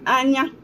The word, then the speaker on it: anya: I'll spell it in English. I-S-I. Isi. In Igbo is I-si. I-si. That's isi. And then anya, that's I.